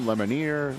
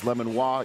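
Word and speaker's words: Lemonier: trying to figure out how to pronounce the Auburn linebacker's name lemoner lemon he said it's lemono either way he's a San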